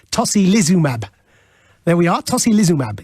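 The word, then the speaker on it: tocilizumab: drug thank you zoe this one that i was calling toki lee zuma is apparently tosi lizumab there we are tosi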